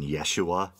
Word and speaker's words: Yeshua: constantly mispronouncing his name isn't the proper Aramaic pronunciation Yeshua you are healed by the power of Yeshua got a different kind